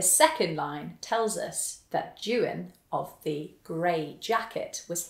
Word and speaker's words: Juan: Jan a jagged Kia you may not be familiar with the name Jan it's the mans translation of John and it's spelled j u a n it actually looks a little bit like the Spanish name Juan but it's not as waro Doan a